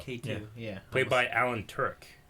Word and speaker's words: Tudyk: Played by Alan Tudyk. Right? Is that how you say it? Tudyk. Tudyk. Yeah. Tudyk.